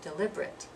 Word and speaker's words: deliberate: it's four syllables but if it's the adjective form it's going to be deliberate deliberate is only going to be three syllables so I'm going to